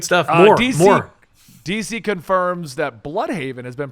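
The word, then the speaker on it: Blüdhaven: Technically, it's pronounced Bloodhaven.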